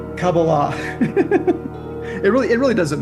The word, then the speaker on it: Kabbalah: So this Hasidic or sorry this Kabbalah Kabbalah um Wait, how do you say it's pronounced accurately? Kabbalah. Kabbalah University is a product of this Bnei Baruch? Actually it's Kabbalah.